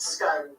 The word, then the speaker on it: Scone: Now, it's spelled Scone, but it's pronounced Scone.